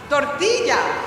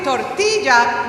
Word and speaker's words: tortilla: Tortilla has a double L. So I say tortilla, not tortilla.